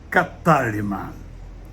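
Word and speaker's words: κατάλυμα: Escreve-se cataluma, uma transliteração direta, pronúncia em grego é catálima.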